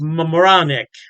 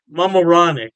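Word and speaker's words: Mamaroneck: York state pipsy and I believe it's pronounced Mam moranic Mam moranic yes don't quote me on that pronunciation I tried my best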